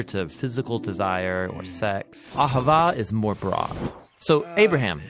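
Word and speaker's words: אהבה: languages as it is in ancient Hebrews it's pronounced Ahava it both basically refers to the kind of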